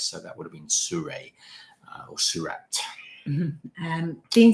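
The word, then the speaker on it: Seurat: know whether that's yeah you probably wouldn't pronounce the uh the t it would be suray i think if it was french so it would be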